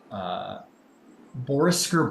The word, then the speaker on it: Borisker: It is called Borisker Bridge. Bor, as it's spelled, Boar, Eskyr, Bridge.